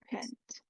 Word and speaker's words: paint: Back in my childhood days, I learned how to paint. Okay, not pen, paint. paint. Take note of the pronunciation here. A. Can you try to open your mouth, please? A.